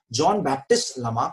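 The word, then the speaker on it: Jean-Baptiste Lamarck: इनका नाम है जॉन, जीन नहीं पढ़ते इसको, जॉन पढ़ते हैं जहां तक मुझे पता है, जॉन बैप्टिस्ट लमार्क।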